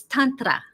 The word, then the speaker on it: Tantra: I have to be respectful and try to pronounce Sanskrit properly. Yes. It's Tantra.